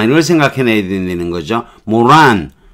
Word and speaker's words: moron: 이걸 생각해내야 되는 거죠 모란 강세는 앞에 있으니까 모란 앞에 강세가 오니까 모란 좀 내려야 되겠죠